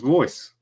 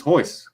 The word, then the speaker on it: Royce: People, like, for instance, because it's spelled with an R, over here, we'd think it was Royce, but it's Hoyce.